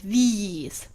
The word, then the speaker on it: these: The second one is long, like these. The first one is short, like this.